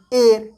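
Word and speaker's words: heir: जैसे यहां हम देखेंगे एर एर जो देख रहे एच एर यहां एच क्या होता है साइलेंट हो जाता है साइलेंट हो गया तो एर ऐसे लिखे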